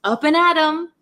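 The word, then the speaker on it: up and at 'em: your day but um this m comes from the word I'm going to actually write it here comes from the word them oh I can hear some thunder so the actual word is up and at them but we don't pronounce it them we say m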